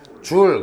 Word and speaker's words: 줄: 그리고 단일은 누구를 사용하냐면 제자라고 쓰고 읽을 때는 뭐라고 읽어? 줄. 그렇죠? 네. 줄이라고 읽어 주는 거야.